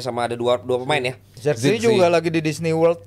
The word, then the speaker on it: Zirkzee: Bacanya gimana tuh Coach yang bener Coach? Betul, Zirkzee. Zirkzee benar.